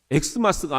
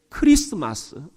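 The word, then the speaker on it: Xmas: 알려 줘야 된다는 겁니다 엑스 마스가 아니라 무슨 마스 크리스마스 크리스투스 앞에 엑스라는 이것을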